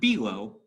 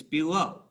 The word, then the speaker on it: below: So a word like below, that would fit iambic pentameter if I started a line with, because it's below. It's weak, strong. It's not below, it's below.